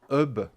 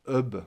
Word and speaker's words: hub: ce qu'on appelle un hub USB. Alors c'est un anglicisme encore, sauf qu'on ne prononce pas le H, donc c'est un hub USB.